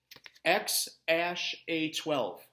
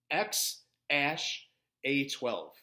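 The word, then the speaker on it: X Æ A-12: of SpaceX and Tesla Elon Musk and you pronounce it X ash a 12 X ash a 12 is how you pronounce that X ash a 12 is how you pronounce that all right friends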